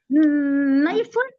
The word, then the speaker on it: knife: हाँ, नाइफ, नाइफ भी ऐसा ही नहीं, नाइफ, हाँ के नहीं प्रोनाउंस होता।